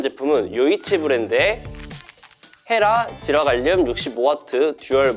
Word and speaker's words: 요이치: 라는 말을 한자로 적고 중국어로 읽은 발음이 요이치더라고요. 요이치. 이 이름 때문에 일본 브랜드 또는 중국 브랜드로 알고 계신 분들이 많던데 그냥 이름만 일본 중국스러운 토종 한국 브랜드였습니다. 아무튼 요이치라는 말이 의리 있다라는 의미의 말이라고 해드렸잖아요.